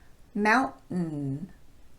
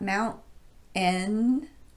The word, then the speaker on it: mountain: Mountain, not mountain, but mountain.